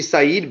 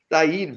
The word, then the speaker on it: Saeed: It's not a side bet. It's a Saeed bet.